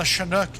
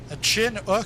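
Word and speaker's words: Chinook: know the the British a chin o I'm like what a chin and a o did the chin o no it's a shinook uh that's how it's pronounced here in Canada uh but yeah I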